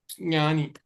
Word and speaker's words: ज्ञानी: ज्ञानी ज्ञानी ज्ञानी हां ओके देखो अब कई लोग ज्ञ क्यों बोल रहे क्योंकि क ख ग य है ना वहां पे तो ग जैसा लग रहा है वो लेकिन वो गा नहीं है च ज य य ऐसे होगा इसका यहां नहीं तो यहां है लास्ट में हां रानी नहीं यनी तो ऐसा आप प्रैक्टिस करिए